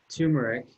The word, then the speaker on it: turmeric: as probably being and i'm probably pronouncing that in a way that triggers people everyone says i pronounce it wrong i'm just going to keep calling it turmeric because it sounds right to me but anyway it is